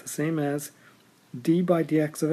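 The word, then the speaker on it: d/dx: Sometimes that's pronounced d by dx because it's a d divided by dx.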